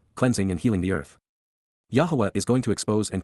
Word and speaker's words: Yahowah: Yahwa Yahwa the proper pronunciation of the name of Eloha God as directed in his Torah teaching regarding his haya existence